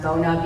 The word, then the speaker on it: Bona: But we give everybody one of those, I think it's pronounced Bona, B-O-N-A, floor cleaning, it's a spray, and then it's the mop.